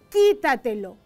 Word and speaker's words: quítatelo: Quítatelo, quítatelo, quítatelo. Acá vemos que la fuerza está en esta sílaba, qui.